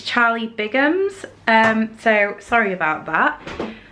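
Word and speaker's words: Charlie Bigham's: it wrong as well I think I've been saying Charlie Bingham and it's Charlie bams um so sorry about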